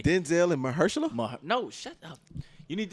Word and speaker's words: Mahershala: Mahershala. Mahershala.